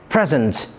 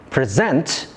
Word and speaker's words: present: If the stress is placed on the second syllable present, the word functions as a verb which refers to an action.